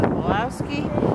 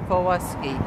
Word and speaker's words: Wolowski: And his last name was, as we call it in English, was Wolowski, and his name in Polish would be Wolowski.